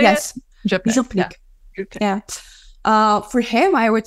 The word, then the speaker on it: župnik: Župnik.